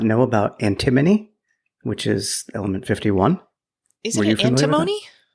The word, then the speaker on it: antimony: Apparently, their use of, whether you say antimony or antimony, it boosts performance in LiDAR systems by bringing the sensitivity to 10x over current systems and 50% more range, which is pretty amazing. It's pronounced antimony, according to Google.